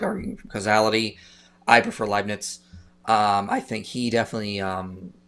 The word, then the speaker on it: Leibniz: And says, what contingency argument would you prefer, Kalam or Lebanese? What's that? How you pronounce that? How you pronounce that last name? Huh? Leibniz.